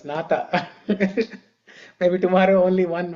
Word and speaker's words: Nātha: Yesterday, This is two-syllable word, Nātha. only 2 syllables, Nātha.